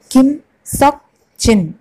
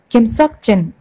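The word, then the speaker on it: 김석진: കിം നം ചുൻ, കിം നം ചുൻ, കിം നം ചുൻ, കിം സോക് ചിൻ, കിം സോക് ചിൻ, കിം സോക് ചിൻ, മിൻ യുൻ കി, മിൻ യുൻ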